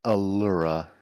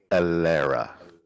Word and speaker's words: Alara: I did what now not Allura Alara hey Roblox history check